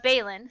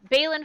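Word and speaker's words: Balin: happen at feast yeah so the night uh bailin spelled with an i b-a-l-i-n um he is able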